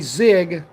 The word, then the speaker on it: ZiG: now officially zwg AKA zigg it's zwg but it's spelled Zig I don't make no